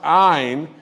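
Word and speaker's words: Ayne: And today I am announcing that doctor, and it's pronounced Ayn, spelled A-Y-N-E, Amjad, is taking our position.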